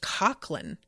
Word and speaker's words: Coughlan: Um Oh, Ashley says it's pronounced Coughlan.